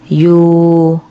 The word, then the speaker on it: อยู่: ดัง นี้ นะ คะ แบบ ที่ หนึ่ง คำ ที่ มี ออ นำ ยอ ไม่ ออก เสียง ตัว อออ มี 4 คำ ค่ะ ได้ แก่ อย่า อยู่ อย่าง อยาก นะ คะ แบบ ที่ สอง คำ